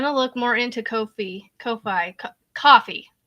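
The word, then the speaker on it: Ko-fi: to look more into Kofi Kofi Co coffee it's coffee K fi it's supposed to be coffee because you buy coffees for yourselves on there so it's it's actually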